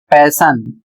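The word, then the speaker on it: passion: इसे पढ़ा जाएगा पैशन।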